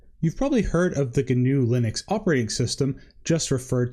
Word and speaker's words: GNU: I've included an interesting article down below about how GNU, which is spelled GNU but pronounced GNU, and Linux actually came together to be one whole operating system.